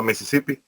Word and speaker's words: Mississippi: o sea está rarísimo no sé cómo se pronuncia ya correctamente en inglés americano es como así como como se escucha en español es lo mismo a Mississippi e Mississippi Pero se